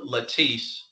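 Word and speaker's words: Latisse: for cosmetic purposes um there's a medication called latis spelled l t i SS e it's basically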